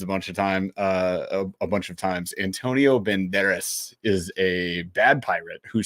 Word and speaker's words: Banderas: Banderas. You have to roll the tongue. Banderas.